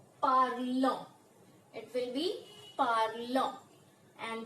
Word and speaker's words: parlons: It will become, and the pronunciation will be parlons.